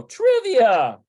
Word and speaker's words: טריוויה: Teriuvia. So I wonder what this is. Teriuvia. There we go. Trivia. טריוויה. Trivia. This is a transliteration of an English word.